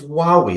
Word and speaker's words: Huawei: Well, were you not in the bandwagon of Huawei? Is that how you pronounce them?